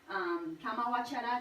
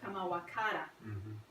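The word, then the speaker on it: kāmāvacara: Yes, in the first category, kama vachara citta, and here in Pali, CA is pronounced as cha instead of ka. So that's why it's called kama vachara instead of kama vakara.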